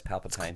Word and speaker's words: Palpatine: goes to see Palpatine Palpatine I think that's how it's pronounced yes Palpatine it's close like clementines but it's also Italian but I am agree